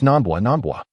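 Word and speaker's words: Namba: It's Nambwa. Hearing her mispronunciation, Dr.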